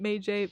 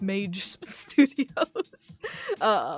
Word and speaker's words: Mage Studios: So some people pronounce it May-J. It is pronounced Mage Studios.